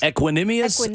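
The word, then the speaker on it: Equanimeous: also in this equipment how do you say aquanium minius equanimous Saint Brown equanimous Saint Brown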